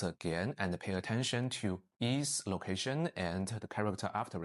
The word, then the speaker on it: 一: When some Cantonese speakers from Hong Kong speak Mandarin, they pronounce all of them on the first tone, yi, and it's still very easy for me to understand them.